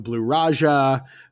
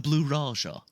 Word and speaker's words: Blue Raja: But like the bowler and the blue raja and like you said it wrong. It's the blue raja.